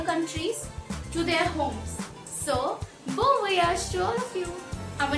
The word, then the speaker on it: bon voyage: Next one that we have is Bon voyage. Bon voyage, which means happy journey. Bon voyage.